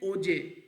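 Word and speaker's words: hoje: को हम कहते हैं ओजे ठीक है एच जो है सा साइलेंट हो जाता है ओजे यस्टरडे होता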